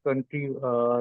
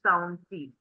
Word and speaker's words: county: think ma'am County and Country seems similar she's pronouncing County word yeah right so U follow me U anur has like valuable feedback for you so it is not country it's County County okay County okay and